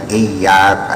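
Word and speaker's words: إِيَّاكَ: Iyyaka na'budu wa iyyaka nasta'in. Mungkin kita sadari bahwa ada yang baca iyyaka na'budu, ada iyyaka na'budu, ada iya, jangan tasyadud ya, jangan iya, langitnya ada berapa.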